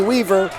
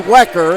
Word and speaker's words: Wecker: I called him Rodney Weaver. It's Rodney Wecker, and I knew I was saying it wrong as it came out of my mouth.